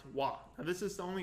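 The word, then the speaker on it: は: ha okay but here when you use it as a particle it's pronounced wah now this is the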